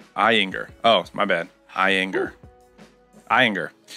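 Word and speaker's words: Ayinger: Pronounced Eyinger.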